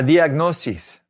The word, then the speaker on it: diagnosis: This is just like English, but say it with Spanish pronunciation. La diagnosis.